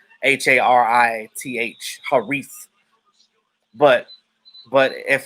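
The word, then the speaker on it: Harith: definitely see that oh you pronounce it like ha hari harry not not her reef okay i'm sorry man yeah uh yeah those arabic names are definitely tricky to um pronounce but um because in america the way it's spelled haris that's how we pronounce it in america h-a-r-i-t-h haris but but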